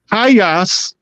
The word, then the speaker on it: Hayas: to be hay Farmers the name hay from the tribal is from the word hay hayas which is the native pronunciation in English becomes Hay all they do is change the last a before the S into a e hayas is the tribe